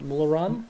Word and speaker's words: Mola Ram: What scared me was how do you pronounce his name? Mularam? Molaram, Mola Ram.